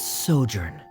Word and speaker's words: sojourn: well is everything clear how do you pronounce this word let me see Ah that's sojourn it means to stay for a while this